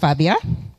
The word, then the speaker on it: Fabia: just uh reintroduce myself my name is Fabia pronounced Fabia um and I'm a